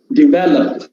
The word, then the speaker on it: develop: the right form develop develop stress falls on the second syllable develop not develop develop